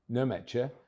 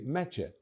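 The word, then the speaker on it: Nmecha: from the spot with family names starting with a silent N. So it's not Nemetcher, but simply Metcher.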